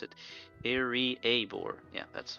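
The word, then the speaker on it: Iriaebor: Oh, that's how you pronounce it. Iriabor.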